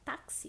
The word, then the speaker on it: táxi: Porque o fonema da letra X, quando a gente fala táxi, fica tax, tax. Parece que a gente fala 2 letrinhas, o C e o S.